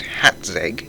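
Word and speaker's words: Hațeg: back to hatag Island it is pronounced hatz as in hatop hence the little accent below the T but I guess red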